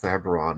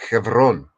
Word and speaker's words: Hebron: mm-hmm, And except here's the thing: it's not pronounced Hebron; it's pronounced Chevron, right?